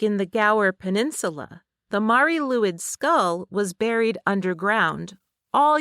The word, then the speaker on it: Mari Lwyd: Well, that thing is the Mari Luid, which is commonly mispronounced as the Mary Lloyd.